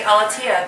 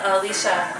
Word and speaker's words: Aletia: barely said okay cool looks like a Latia but it's Alicia the team there we go